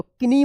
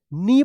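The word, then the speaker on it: knee: नी देखिए यहां पे के एन डबल ई तो किनी मत पढ़िएगा इसको क्या पढ़ा जाएगा नी पढ़े जाएगा के एन से पहले के है तो के साइलेंट रहेगा ठीक है देखिए यहां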